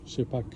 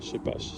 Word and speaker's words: Scheppach: tondeuse chez pas donc il y a ceux qui la prononcent chez PAC mais en fait c'est une marque allemande euh qui a été créé depuis 1920 par un monsieur qui s'appelle che pasach ça se prononce comme ça en allemand et donc il s'appelle che pas pas chepac donc dans cette partie